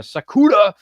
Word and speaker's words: Sakura: Uh yeah, Sakura is fine. Sorry. My friends call me different things because how to pronounce it?